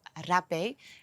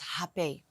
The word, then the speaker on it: rapé: way they pronounce is happy it comes from Brazil and in Brazil they don't pronounce the R so as like we do in the Netherlands so let's call it